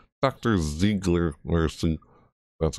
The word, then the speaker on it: Ziegler: Ziegler Mercy, that's how you pronounce it, Mardi Gras Ash, it looks like